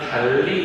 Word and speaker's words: 달리: 예를 들면은 달리 같은 경우에는 어때? 모음 사이에 자음이 두 개가 버렸는데 이런 경우에는 L로 발음해.